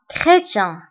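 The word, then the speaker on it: chrétien: فانتبهوا بالنسبة لكريتيان فسي اش كنطقوها بكا كريتيان.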